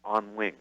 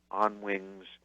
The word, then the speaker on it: Onwinges: for the production company which is pronounced on wings like birds on wings but it's spelled o n W ing e s on wings calm that will take